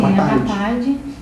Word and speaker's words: apartheid: Mas eu quase não lembrava, que é o apartheid. Pronunciei certo, é isso mesmo, né? Sim, apartheid.